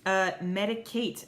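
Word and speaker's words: Medik8: Medicate. Oh, cute. It's because it's spelled MEDIK and then the number 8.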